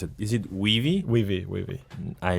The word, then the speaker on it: Weavii: So tell me more about, first, how do you pronounce it? Is it Weavii? Weavii.